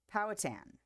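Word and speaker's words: Powhatan: Powatan. Powatan. Okay, there we go. Powatan picnic and place it in the valley for you.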